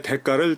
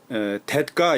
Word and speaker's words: 대가: 값으로 치르는 돈 물품의 대가를 지불하다 우리가 흔히 이제 댓가 이렇게 읽어요 대가 대역이 나오는 대로 대가라고 읽어요 그 사전에 보면 발음도